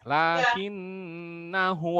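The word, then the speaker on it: لكنا: sedikit mengulang laki nah disini walaupun pakai Alif dibacanya pendek ya di beberapa mushaf itu biasanya di alisnya itu ada tanda sukun ya tandanya Alif itu tidak ada dianggap tidak ada jadi nah itu dibaca pendek Linkin Naho allohu Robbi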